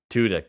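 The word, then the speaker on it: Tudyk: I do always forget that that's Alan tudk tudk yep that's the right pronunciation uh like he the man voice acts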